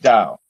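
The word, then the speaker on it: Tao: tit is spelled t it's spelled with a t but you put you pronounce it doubt like dow yeah t-a-o-t-e-c-h-i-n-g it has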